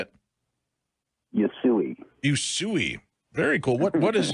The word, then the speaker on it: Usui: Usui.